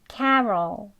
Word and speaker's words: Carol: D Don 나 다음은 캐롤입니다 캐럴은 car Carol 다음은 루스 있니다 루스는 아니니까 우주부 소리 하시고